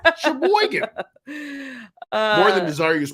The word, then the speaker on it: Sheboygan: Isn't it Sheboygan? Sheboygan.